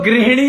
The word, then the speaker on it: गृहिणी: अब ना हिंदी में एक तो ग्रह शब्द है, गा के साथ में रा, वैसे वाला डंडी वाला रा, और हा, और एक है ग्रीह। बोलने में ही फर्क है, प्रोनाउंसिएशन में फर्क है, लेकिन लोगों को कंफ्यूजन कर दिया प्रोनाउंसिएशन के कारण। ग्री को भी ग्रह मानने लग गए, तो गृहिणी बना दिया, जबकि वो गृहिणी होता है, गृहिणी।